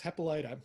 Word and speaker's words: Hippolyta: courtney vance was saying so did we finally decide how we were pronouncing that and he said yes hepalita so so this this